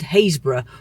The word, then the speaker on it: Happisburgh: in between Bacton and Haysborough, or for all you non-Norfolk folk, Happisburgh. You can look it up and see why, one of our strange Norfolk pronunciations.